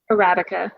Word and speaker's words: Arabica: So you can get a consistent product let's say if I order Arabica, how do you pronounce that? Arabica? Arabica.